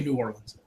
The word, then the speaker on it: New Orleans: from and that's where that's how everyone says New Orleans it's just New Orleans so do not confuse